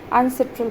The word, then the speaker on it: UNCITRAL: On international trade law को, इस abbreviation को UNCITRAL प्रोनाउंस करते हैं।